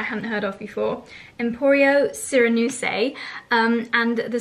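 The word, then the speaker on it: Sirenuse: heard of before emporio surinuse um and the cyranoses actually so how you say it syranuse is actually a really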